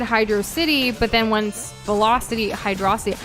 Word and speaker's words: Hydrocity: Am I in the minority for pronouncing Hydro City the same way you pronounce velocity? Yes. Hydrocity instead of Hydro City?